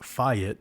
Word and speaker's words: fiat: And we all know that fiat money, which is actually pronounced fiat, which sounds a lot like fight, was created for war.